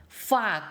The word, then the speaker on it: ฝาก: 이ฝาก이 영어로 알고 계시는 그 욕하고 발음이 비슷해요.ฝาก งิน하면 돈을 저금하다, 돈을 맡기다 이런 뜻입니다.